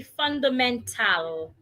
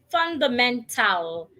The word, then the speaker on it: fundamental: Pronouncing the t, the a, and the l. Fundamental. That is wrong. The right way to pronounce it is fundamental. The letter a before the letter l should be silent.